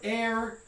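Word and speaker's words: heir: This one is pronounced with an A, and then that initial H is just completely unpronounced. It doesn't make any sound at all.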